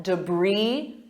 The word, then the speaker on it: debris: And notice my pronunciation compared to the spelling debris E Do you notice that debris? Brie sounds exactly like Brie cheese.